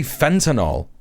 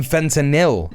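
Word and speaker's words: fentanyl: They just say fentinol. Not even fentinil.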